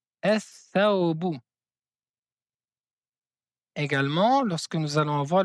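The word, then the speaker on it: الثوب: On ne prononce pas la lettre lam, mais on prononce deux fois la lettre th. On dit ath thawbu, ath thawbu.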